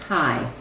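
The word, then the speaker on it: high: Hi. You just say the H and the I. Hi.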